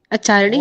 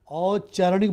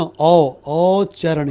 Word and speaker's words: औच्चारणिक: औच्चारणिक बोल रहा हूँ ना, औच्चारणिक। ओके सर, हाँ आचारणिक ही लिखे हैं एक्चुअली, अब बोले ना उच्चारण से रिलेटेड है इसीलिए हाँ, ये। औरत वाला औ लिखिए, समझी? औरत वाला औ लिखिए, औ डबल च, औच्चारणिक, बड़ा में छोटी की मात्रा लगाइए।